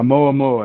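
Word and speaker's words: ʻOumuamua: Yeah, Oumuamua.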